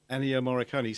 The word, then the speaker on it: Ennio Morricone: You know, how do you pronounce his name? Ennio Morricone. Ennio Morricone.